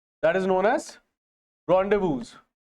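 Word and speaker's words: rendezvous: That is known as रॉन्डेवूज, है ना। इसमें एक ओ और आएगा, है ना, फाइन। बट इनकी जो प्रोनाउंसिएशन है that is नॉट रेंडेजुअस, इट इज रॉन्डेवू, right.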